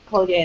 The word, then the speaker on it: Collier: so I'm caller so I pronounce it Coler but you can call me colier that's fine too um and I'm the